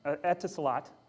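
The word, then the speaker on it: Etisalat: I can't say the name of this carrier etat I don't know how to pronounce it etot thank you um ET salot is a cell carrier in the UAE the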